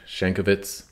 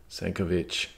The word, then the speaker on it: Sienkiewicz: Quo Vadis was big for me by Henrik Sienkiewicz. Actually, that's Sienkiewicz. It's a Polish name.